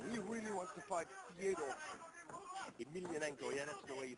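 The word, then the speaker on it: Fedor Emelianenko: Yeah, he really wants to fight Fyodour Emelianenko. Yeah, that's the way you pronounce it.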